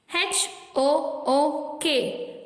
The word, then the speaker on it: hook: HOOK, hook. இந்த மாதிரி தான் இந்த வேர்ட்ஸை நீங்க சொல்லணும். This is the correct way to pronounce these words.